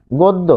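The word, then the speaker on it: গদ্য: যেমন অধ্যক্ষ কল্যাণ গোদ্য আচ্ছা এখানে আমরা লিখি গোদ্য এটা কিন্তু অ এর নিয়মের মধ্যেও পড়েছে। গোদ দো দেখুন গ এর সাথে রয়েছে অ গ হসন্ত যোগ অ তা তাহলে অ এর পর যেহেতু জফলা রয়েছে তাই গ হচ্ছে গো এইযে এখানে ও তারপর যেহেতু জফলা বসছে তাই দীপ্ত হচ্ছে গোদ কিন্তু সে নিজে কিন্তু উচ্চারিত হচ্ছে না ফলে এভাবে কিন্তু আমরা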